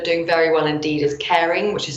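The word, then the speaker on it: Kering: group that are doing very well indeed is caring which is spelled k-e-r-i-n-g they used to be the Gucci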